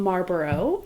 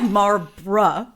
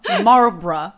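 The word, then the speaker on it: Marlborough: Um, it's called Giant Sky from Marbor. Oh, sorry. Uh, we got a comment about how bad we were pronouncing that.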